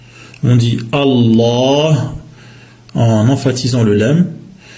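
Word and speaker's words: الله: lorsqu'on prononce on dit Allah en emphatisant le LaM en gonflant le L et en allongeant le a Allah avec un ha à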